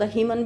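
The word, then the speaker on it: hymen: कहा rapture of द हाइमन इज़ not necessary. Rapture of द हीमन भी कुछ लोग हीमन प्रोनाउंस करते हैं, rapture of द हीमन इज़ not necessary, वो फटना जरूरी नहीं है।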